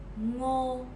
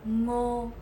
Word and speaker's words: ngô: Ngô, ngờ, ô, ngô, ngô.